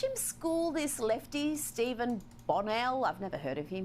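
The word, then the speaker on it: Bonnell: Watch him school this lefty, Steven Bonell. I've never heard of him. He's called Destiny appar. Oh my god. She pronounced my name correctly the first time. Bonell, not Bonnel.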